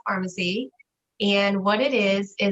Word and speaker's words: Farmasi: It sounds like pharmacy like CVS, but it's not.